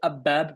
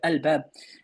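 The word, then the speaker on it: الباب: You don't say ab-bab, you say al-bab.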